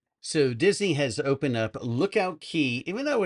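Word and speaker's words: Lookout Cay: So, Disney has opened up Lookout Key, even though it's spelled K or CAY, it's pronounced Key.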